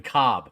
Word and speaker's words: Kolb: It's an elite thought, because we a lot of people still have problems pronouncing Kevin Cobb because it's not spelled Cobb, and you'll still get the occasional caller.